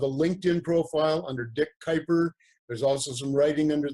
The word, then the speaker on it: Kuiper: Kyper and it rhymes with sniper but it's spelled KU